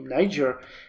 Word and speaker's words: Niger: one state uh or Niger because you guys tell me nature I keep pronouncing it as it is pronounced in uh my country uh Niger has been